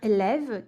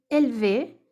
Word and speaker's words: élève: Donc, un ancien élève qui a été élevé. Antigo aluno. Explicação. Que foi aluno, qui a été élève. Pardon, qui a été élève, não é para ter élevé, a louca.